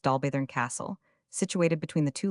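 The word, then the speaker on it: Dolbadarn: We here dismissed our Cambrian mountaineer, and easily found our way to Dalbet, pronounced Dalburn Castle, situated between the two lakes and now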